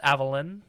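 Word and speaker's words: Avallen: Avalon yeah it's spell it's not spelled like Avalon so Avalon a-v-a-l-l-e-n I think it's supposed to be like Avalon but it's Avalon yeah Evelyn and fifth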